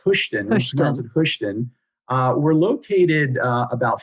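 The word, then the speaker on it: Hoschton: where is this located is the town hushton am i saying that well i i think it's pronounced houston uh we're located uh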